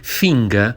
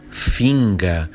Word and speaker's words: Finger: Mas finga, esse ER final que a gente pronuncia como uma espécie de A, né?